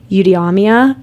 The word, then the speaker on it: eudaimonia: Eudaimonia is, I think, how you say it, which translate to flourishing or living well.